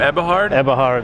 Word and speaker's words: Eberhard: now how do you say your last name eberhard fantastic they're all the way from germany we're